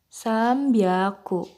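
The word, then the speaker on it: 三百: Jadi 300, 600, dan 800 itu pengucapannya berbeda, bukan hyaku. Jadi kalau 300 itu sambyaku, 600 ropyaku, dan 800 hapyaku.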